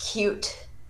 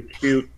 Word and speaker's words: Qt: I think it's actually is it formally pronounced cute that's what I've heard yeah this is everything you have to do get the cute environment installed alright Ben